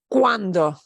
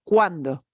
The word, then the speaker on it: cuando: So cuando, wa. We pronounce both those vowels. We just kind of slide them together as much as possible. Cuando, cuando.